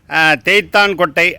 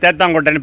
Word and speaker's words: தேத்தாங்கொட்டை: தேய்த்தான் கொட்டை அப்படிங்கறது கரெக்டான உச்சரிப்பு. ஆனா பேச்சு வழக்குல அது தேத்தங்கொட்டைன்னு பேரு.